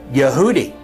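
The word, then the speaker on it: יהודי: for Jew in English is pronounced yehudi and the word Jews is yehudim and so the case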